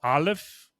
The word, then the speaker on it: Aleph: two letters of theirs is what they call Aleph. It starts with an A, but it sounds you kind of pronounce it like olive, and Bet.